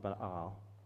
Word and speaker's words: Baal: No, normally we call it Baal. It's pronounced Baal.